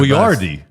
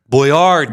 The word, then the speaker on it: Boyardee: You are the Boyardee. Boyardee. You got the stress on the accent on the wrong spot.